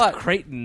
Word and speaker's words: Creighton: I'm looking forward to kryon being gone it's kraton not kryon kryon I I'm going